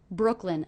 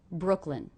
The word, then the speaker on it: Brooklyn: in Brooklyn in Brooklyn Brooklyn a two-syllable word one of the syllables will be stressed what do you hear as being stressed Brooklyn Brooklyn definitely it's that first syllable Brooke Brooke Brooklyn Brooklyn